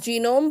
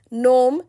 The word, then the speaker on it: genome: Genome is not pronounced as genome but as pronounced as gnome, where G remains silent.